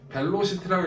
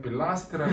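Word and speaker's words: velocity: 벨로시티라고 읽지 말고요. 악센트가 여기 들어가기 때문에 빌라스티라고 읽어요.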